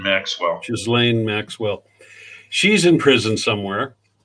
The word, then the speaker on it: Ghislaine: Ghislaine Maxwell. Ghislaine Maxwell.